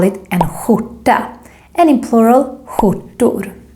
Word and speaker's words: skjorta: And in most part of Stockholm, we pronounce this combination, SKJ, as the Juan sound, or I have something stuck in my throat sound. So remember, it should sound more like skjorta.